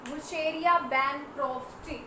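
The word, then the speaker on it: Wuchereria bancrofti: कौन करता है पहले तो ये देखेंगे, इसका कॉज लिखेंगे, कॉज कौन करता है, वुशेरिया बैनक्रॉफ्टी, ठीक है। क्या लिखेंगे यहाँ पे, वुशेरिया, ये साइलेंट होता है बीच में, बैनक्रॉफ्टी।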